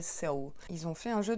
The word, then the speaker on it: Seoul: Soulmate, ça veut dire âme sœur en anglais, mais la prononciation de la capitale de la Corée du Sud, Séoul en anglais, c'est Seoul.